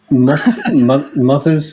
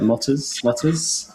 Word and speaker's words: MoThers: I can never quite pronounce the word, but if you imagine it written, it's M lowercase o, uppercase T, and then hers, so mothers, but it looks like motters.